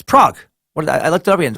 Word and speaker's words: Prague: It's Prague. I looked it up again. What did I say? Did I say Prague or something?